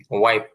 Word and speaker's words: wipe: তো আমাদের বাংলাদেশে আবার আমরা উইপ পড়ি বেশি, উইপই সবাই ব্যবহার করে, কিন্তু উচ্চারণটা সঠিক হবে হচ্ছে ওয়াইপ, এই আর কি।